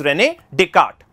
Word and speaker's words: Descartes: दे card right है नाम इस प्रोनाउंस रेन डी'कार्ट नो दिस इस मोस्ट